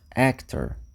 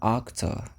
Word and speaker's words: actor: começa com o som e actor você também vai escutar octor se você tiver ali na no no mais interior da da Europa né então se eu